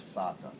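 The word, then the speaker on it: Vater: as the Ula of Vader v a t in German it's pronounced fata uh so uh it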